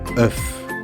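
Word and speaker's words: œuf: de prononcer le mot off off prononce le f s'il est au singulier 1,9 et on fait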